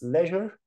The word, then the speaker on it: leisure: In this example, this word means free time or leisure time or leisure time. This word can be pronounced in two different ways: leisure, leisure, or leisure. Leisure, they are both correct.